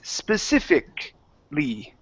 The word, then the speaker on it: specifically: I don't say specifically, it's specifically. Specifically. There you go. Good job. Okay. So if it ends with that ICALLY, okay, that A vowel disappears. We do not pronounce it.